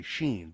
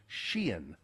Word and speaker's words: Shein: They say Shein, but it's Shein.